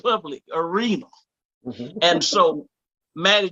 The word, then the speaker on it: Mattie: But my name is Mattie, Mattie. The second T is silent.